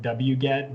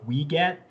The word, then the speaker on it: wget: also add into that so many of us pronounce it wget but there are other pronunciations out there on the internet like we get so if you hear some of our instructors saying um saying we get they're referring to the same tool as w-g-e-t-w-get so um